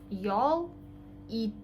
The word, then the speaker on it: ял ит: У нас ударение всегда на последний слог, но тут у нас один гласный слог, да, понятно. Йол ит. И как бы мы гласные тянем всегда на татарском.